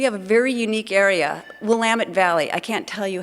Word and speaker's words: Willamette: We have a very unique area, Willamette Valley.